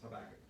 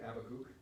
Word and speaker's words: Habakkuk: My very favorite scripture is Habakkuk, or as the British say, Habakkuk, or in Hebrew, Habakkuk. It's actually a spit letter at the beginning. It's that shade. We don't have a letter in English, but that's what that letter is there.